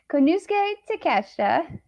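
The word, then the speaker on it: Konosuke Takeshita: night in the podcast i could finally pronounce nick keshta ticket konusuke takeshita uh versus john moxley in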